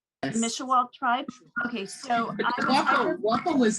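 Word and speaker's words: Mishewal: Mishawa? Yes. Mishawa tribe?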